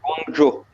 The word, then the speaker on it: Guangzhou: Comment tu dis? Guangzhou. D'accord. Donc la dernière fois, on a appris que Séoul se disait Saoul. Et donc là, cette fois, c'est Guangzhou.